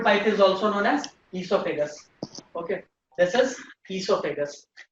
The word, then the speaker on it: esophagus: And this is all, food pipe is also known as esophagus. Okay. This is esophagus. O is silent.